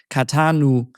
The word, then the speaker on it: Catan: needed to be called katanu and in French they added an e so that the pronunciation is katan. Um so otherwise it would have been kon.